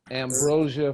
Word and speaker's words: Ambrosia: Ambrosia for heads.